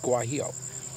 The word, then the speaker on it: guajillo: that is called the I believe it's pronounced guajillo I could be wrong about that if you're Spanish or Mexican Central American you might be able to pronounce it better for me but I think that's pronounced you a ji ll oh and I think that's pronounced guajillo okay so if I'm wrong